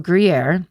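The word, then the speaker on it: Gruyères: A month later in March of 1995, they take a trip to the castle of Griier. In parentheses in red, Jay put pronounce like the cheese.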